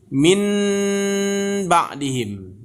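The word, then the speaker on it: من بعدهم: kalau secara tulisan bacanya min ba'dihim ya, min ba'dihim. Itu secara tulisan. Tapi kalau membacanya nanti seperti ini Bapak dan Ibu. Min ba'dihim ya. Seakan-akan yang n tadi bertukar menjadi m ya.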